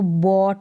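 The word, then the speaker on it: bought: हो कि खरीदा तो बोट बन गया क्या बन गया बोट यहां पर जी एच क्या है साइलेंट है ओ यू ओ करके पढ़ेंगे और बी को ब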